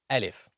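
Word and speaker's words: ألف: Alif, it's like you're saying uh, uh, uh, alif. Alif is pronounced from the empty space of the mouth and the throat.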